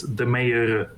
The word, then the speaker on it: Demeyere: You can compare it with the mayor, like the mayor of a city. Mm-hmm. Yeah. If you say the mayor, it's the same actually.